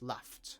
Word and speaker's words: laughed: Um, remember the word laughed has a f sound at the end, so it's laughed with a t.